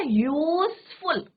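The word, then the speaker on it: useful: यूजफुल क्या बोला यूजफुल अब आप कहेंगे यू क्या है आपका वोल है है ना बच्चों यू क्या है आपका वोल है बट मैं यहां पे क्या लगाऊंगी बच्चों अ यूजफुल क्यों लगाऊंगी क्योंकि यहां पे प्रोनंसिएशन किसका हो रहा है कंसोनेंट का किसका साउंड आ रहा है कंसोनेंट साउंड राइट तो इसलिए हम य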